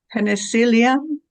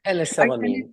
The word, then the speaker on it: penicillamine: Khan, you mentioned that several times and it's hard for me to pronounce, but I'm going to try. Penicillium? Is that correct? Or Penicillamine.